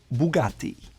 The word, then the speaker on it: Bugatti: Another brand that seems simple, Bugatti, is actually called Bugatti because it was founded by the Italian Ettore Bugatti.